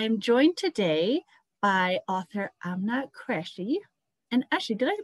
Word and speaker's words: Aamna Qureshi: later but i am joined today by author i'm not crashy and actually did i pronounce that right chris yeah you did yeah